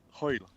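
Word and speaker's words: Hwyl: Hoyle. Hoyle. How do you spell that? How do you spell Hoyle? Hoyle. It's like as if you're trying to bring up a bit of phlegm.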